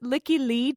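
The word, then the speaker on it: Lykke Li: I'm going to explain why these two songs are a couplet in a second, but also I think you pronounce it Licky Lee.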